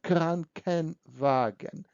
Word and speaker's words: Krankenwagen: It's very difficult to pronounce K and W and W together, so we put additional EN, so Krankenwagen.